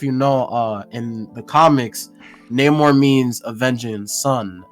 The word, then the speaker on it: Namor: I don't give a single fuck because people are also mad about the fact that his name is Namor, not Namor, because they have it like with a more Spanish dialect.